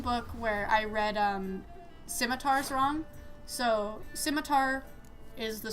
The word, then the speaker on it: scimitar: Uh, and instead of saying a scimitar, I said uh I said uh schemat.